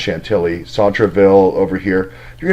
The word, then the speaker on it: Chantilly: all these different houses in Chantilly Shanti II I realize it's pronounced Chantilly sod travel over here